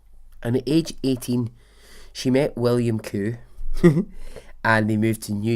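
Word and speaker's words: Qcoo: And before I continue, her name is spelled Eva, E-V-A, Q-C-O-O. Koo. Now, wherever you're from, that might be perfectly normal for someone to have the surname Koo.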